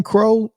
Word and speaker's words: Crow: And Jay Crow, is his name Crow? Am I saying that right? I think it is. Crow. It's Crow. It should be Crow.